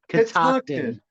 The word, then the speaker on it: Catoctin: Catoctin.